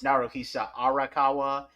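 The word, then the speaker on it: Naruhisa Arakawa: F first of all I mispronounced it it's naroa arakawa and he did ABA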